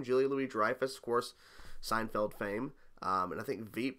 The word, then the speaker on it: Julia Louis-Dreyfus: is this oh julie julia louis-dreyfus that hair pronounced her name julie louie dreyfus of course seinfeld fame um and i think